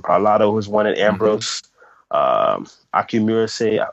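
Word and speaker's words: Akinmusire: You got people like Gretchen Parlato who's won it, Ambrose, Akimurase. I hope I pronounced his name right. I just did a gig with him. Akimusare. Akimusare, that's his name.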